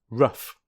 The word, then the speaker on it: rough: let's look at them rough which rhymes with puff cough which rhymes with